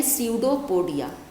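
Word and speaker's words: pseudopodia: ये तो start P से होता है मगर पी साइलेंट होता है, हम इसको प्रोनाउंस करते हैं स्यूडोपोडिया।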